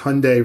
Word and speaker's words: Hyundai: personally, I like the Hyundai Genesis. Hyundai rhymes with Sunday.